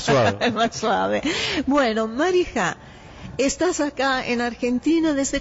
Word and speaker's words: Mariha: Me llamo Marija. Marija. Es con una J, no como la decimos nosotros, que es así, no, más suave.